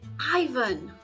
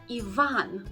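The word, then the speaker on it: Iván: you need to say Ivan and the stress goes on the second syllable not the first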